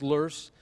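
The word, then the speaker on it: loess: of wind blown silt luss l-o-e-s-s it's a german word pronounced lurse uh is win-bone silt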